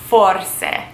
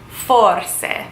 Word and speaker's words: forse: It looks like it is spelled force, and usually the way things are spelled in Italian is how you pronounce them. So in this case, you have to remember that Italian is a very whimsical, magical, musical language. So how you would say maybe is forse.